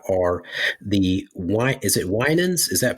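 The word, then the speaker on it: Winans: a lot about are the wi is it winens is that pronounced correctly wi correct yep and Winters those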